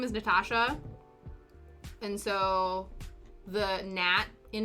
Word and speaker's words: Natasha: But the full name is Natasha. The 3 syllables long.